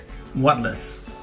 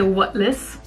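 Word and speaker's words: wutless: left bring it on what less yeah you pronounce it correctly so we say what less and what list is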